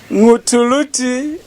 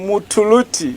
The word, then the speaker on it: Ngutuluti: Arthur, since somebody needs the pronunciation lesson, Ngutuluti Winner. Those whose tongues are not very deeply lozy call him Mutuluti. Yeah. But that's why there is the N, is Ngutuluti Luvinda Winner.